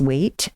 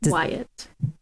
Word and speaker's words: Waitt: Yvette was going to reach out to Iris Waite from Design Day Mechanicals. Wyatt? Iris Wait. Wyatt. I guess I was always saying it Wait because the way it's spelled, Waitt. Wyatt.